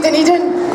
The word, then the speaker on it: Dunedin: It's a good Scottish name, Dunedin. I like you already. I've been pronouncing it Dundon for ages.